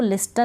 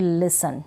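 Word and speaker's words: listen: नियम ही यही है फिर इसको लिस्टन नहीं पढ़ूंगी लिसन ठीक है इसको क्रिसमस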